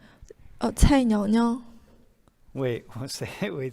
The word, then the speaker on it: Cai: C-A-I. Cai. Yeah, see, that's one of those. Can you do that? Can you say that? It's like a C, it's like a T and a C.